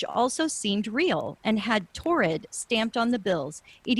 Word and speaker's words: Taured: So Torrid is spelled Taured.